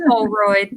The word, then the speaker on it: Houlroyd: Tamara Shealy, Miss Houlroyd. Am I saying your name right? Yes, you are. You're doing a great job saying my name. I get name. it wrong. No, it's Houlroyd. That's right.